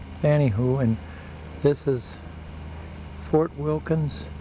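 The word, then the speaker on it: Fanny Hooe: It's Fanny Hoo, and this is Fort Wilkins State Park up in the Upper Peninsula, up in Copper Harbor rather, Michigan. There's our trailer in it. Pronounce it Lake Fanny Hoo.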